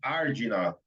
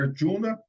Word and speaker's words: Arjuna: Arjuna, Arjuna, Ardina. Tem várias pronunciações, a gente vai falar Arjuna.